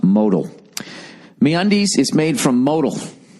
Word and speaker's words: modal: for your read note modal is pronounced modal mundis is made from